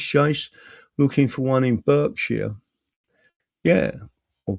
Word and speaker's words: Berkshire: Ace Chase, looking for one in Berkshire. Yeah, or Berkshire is that?